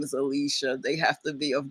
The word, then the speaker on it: Alicia: So, they pronounce Alicia. Alisia. Like the Spanish version of it.